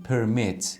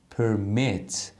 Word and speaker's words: permit: تغییر بده مثلاً همین پرمت که مثال زدم اگه فعل باشه استرس قسمت دوم کلمه هست پرمت یعنی اجازه دادن اگه اسم باشه استرسش میاد قسمت اول کلمه پرمت یعنی اجازه پرمت اجازه